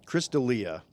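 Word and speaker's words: Chris D'Elia: up we were talking about last week um Chris Delia okay that's how you say his name so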